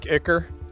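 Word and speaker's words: ichor: in that corn yeah the word eiker but how is that spelled with an e i c h o r it's kind of like icker so these and all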